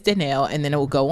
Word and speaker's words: Dannelle: I've said before, like, if they say it wrong, they're introducing me, like you said, follow up, like, yes, I'm Dannelle, and I, you know, like I just say it the correct way again.